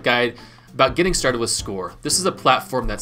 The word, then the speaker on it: SCOIR: So what exactly is SCOIR? Simply put, SCOIR, which is pronounced like scoring a touchdown, S-C-O-R-E, is an innovative, user-friendly platform